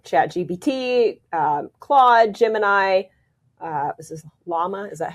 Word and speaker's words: Llama: This is Llama. Is that how you pronounce it?